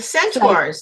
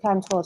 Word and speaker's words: centaur: And the centaurs, then, do they come into it too? The half human, half I did animal? I did not include centaurs in the book.